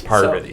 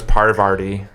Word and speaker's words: Parvati: I always thought her name was Parvati. Parvati. It's like 2 R's.